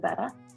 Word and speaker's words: Bette: instagram though so my handle is a-l-y-s-s-a-b-e-t-t-e betta i pronounce it and my jewelry company is called